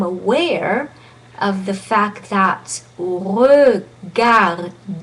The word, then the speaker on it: regarder: What you want to do is to become aware of the fact that regarder, that E has no double consonant after, has no accent on.